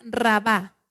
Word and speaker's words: Rabá: con esta nación Amón la capital era rabá r a b de bueno Ah con acento en la última raba los amonitas eran descendientes